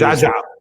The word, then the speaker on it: Geagea: Uh who is Geagea. Geagea. Geagea. Sounds like Joey Geagea from Godfather part three.